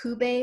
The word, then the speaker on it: Cube: landmark tower in Mexico it's spelled like cube but it's pronounced COO Bay which I understand is